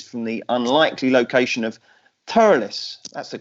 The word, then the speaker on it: Thurles: us five races from the unlikely location of thoroughness that's the correct pronunciation DJ isn't it yep - you are